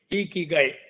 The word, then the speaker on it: Ikigai: And Ikigai, and they call it as Ikigai, E-E-K-E-E and G-U-Y, Ikigai.